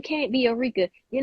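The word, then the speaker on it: Ericka: you spell it it's my name is just like Erica though it's not like Erica that's why I'm like I don't people e-r-i-c-k-a okay so I'm like no it's just pronounce Eureka I'm like maybe I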